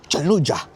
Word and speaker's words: Çamlıca: It's Çamlıca. Yeah, you have to pronounce it like this, more like Çamlıca.